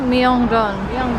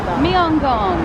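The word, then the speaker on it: 명동: How do you say it? Myeongdong. Myeong-dong. So I'm gonna say it again.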